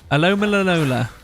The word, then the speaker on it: Alola: we definitely go into that Pokemon ala alola alola that's how you pronounce it that is how you pronounce it